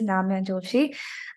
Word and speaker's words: Namya Joshi: So a bit about myself, like pronounce my name absolutely the way it is, Namya Joshi.